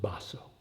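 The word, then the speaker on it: Baso: Master ma is matsur basso by way of background these two masters sekito and basso in Japanese pronunciation they lived on mountains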